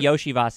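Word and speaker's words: Iosivas: year yep uh and Yoshi vas or something like that that Andre yosias yeah I was just going to look up the pronunciation I think Yoshi vas is correct y there you go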